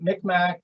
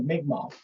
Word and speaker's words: Mi'kmaq: From what I understand, Micmac is an anglicized version of Mi'kmaq. And from what I understand, it's not necessarily a slur, but it's not the proper pronunciation of their name.